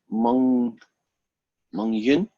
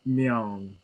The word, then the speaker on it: Myung: I'm trying to pronounce your name, and I know there's a Y sound in there, because I seem to remember you saying that. Mung Yun? Am I even close? It's Myung.